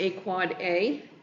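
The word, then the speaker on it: AAAA: four capital A's is an end device IPv6 address pronounced a quad A and MX is a mail exchange record.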